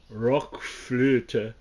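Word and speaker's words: RökFlöte: new Jethro Tull album which I think is pronounced uh Rock flute which is r-o-k-f-l-o-t-e it looks a lot like rock flute and it's about um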